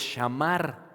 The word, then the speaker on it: shamar: La palabra guarda en el original griego es shamar. S h a m a con acento r. Shamar.